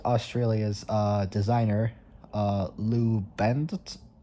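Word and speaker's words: Bandt: In 193 in 1934, Ford Australia's uh designer uh Lou Bend, I can't pronounce it, but it's spelled B A N D. So, it's it's the word band and the letter T at the end.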